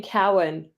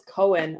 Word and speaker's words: Cowan: I meant to say you keep saying Cowan that's right nobody ever pronounces my last name correctly but you got it right how are they pronouncing it how do you how c o w an people assume it's Cohen almost universally which you know like